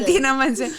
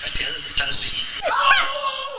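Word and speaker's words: Idina Menzel: Adina Menzel. Yeah. That is me when I'm John Travolta. That's me when I'm hosting.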